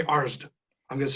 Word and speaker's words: Arzt: seasoned script supervisor who, she informed me that I was saying my name wrong. And I said, what? She said, you're saying you're Dr. Arzt, but it's Arzt. And I said, however I say it, that's how it's said, because I'm the one saying it.